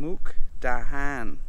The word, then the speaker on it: Mukdahan: พรุ่งนี้เราจะไปรับตอนเช้า เราจะขับรถไปต่างจังหวัด เรียกว่า มุก cadan หรือ mukadu ขอเช็คโทรศัพท์หน่อย เพราะฉันเขียนการออกเสียงของอันนี้ mook dahan ah โอเค เราจะไป muk dahan พรุ่งนี้ และฉันไม่คิดว่ามันจะเป็นเรื่องใหญ่ จริงๆ แล้ว ฉันกำลังคิดจะ ขับรถไปกินอาหารเช้าที่นั่น แล้วเราจะไปทานอาหารกลางวันที่จังหวัดถัดไปกัน เพื่อทานอาหารค่ำกัน